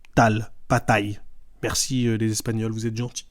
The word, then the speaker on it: Tal: Mon nom de famille c'est T a de L et les gens disent taille et je leur ai écrit sur le mur, ça se prononce comme ça tal.